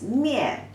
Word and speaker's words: 面: The pronunciation is 面.